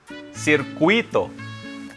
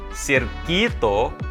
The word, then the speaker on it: circuito: Circuito, it's circuit in English. But in Spanish, it's not cirquito or cirquito, it's circuito. Don't be confused with the English pronunciation being circuit.